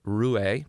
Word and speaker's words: Roué: the CMO with an emerging wine-based RTD brand, Roué. Did I pronounce that correctly?